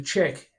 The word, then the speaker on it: Ledaig: your Lagavulins, your Kailailers, the Chick, which is Ledaig, is how you spell it, but the Chick.